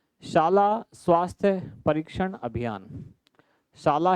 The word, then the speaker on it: शाला: कि पहला यहाँ है शाला स्वास्थ्य परीक्षण अभियान। शाला है ना, उच्चारण का ध्यान रखना, ये साला नहीं है, शाला स्वास्थ्य, साले का